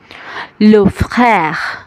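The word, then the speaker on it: frère: লো ফ্রère, লো ফ্রère, লো ফ্রère, লো ফ্রère মানে হচ্ছে ভাই। দর্শক, ফ আর খ এই দুইটার মাঝামাঝি একটা উচ্চারণ হবে, লো ফ্রère।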